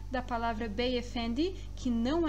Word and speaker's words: Beyefendi: O D do turco tem o som de da, de, di. Beyefendi.